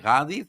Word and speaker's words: Ghadi: Sorry, I pronounce it properly. Gaudi, thank you so much for giving up your time to be with us.